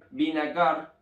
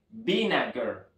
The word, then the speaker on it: vinegar: vinagre vinagre en inglés vean Cómo cambia acá la vocal cualquiera La hubiese pronunciada como vinagar pero es binager binager muy bien vean